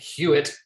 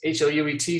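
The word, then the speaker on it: HLUET: the it's the h-l-u-e-t it's always pronounced i think hewitt but uh it's hout subcommittee that's housing land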